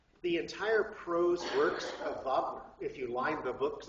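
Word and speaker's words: Wagner: German romantic Opera is rard not Richard rard vogner W AGN r vogner i mean rard spelled like Richard but pronounced rard sorry uh he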